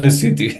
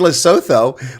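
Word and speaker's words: Lesotho: of L never know at least Trump pronounced it correctly yeah yeah well now everyone has heard of lutu yeah at least they're not saying L Soo like most Americans yeah exactly it's like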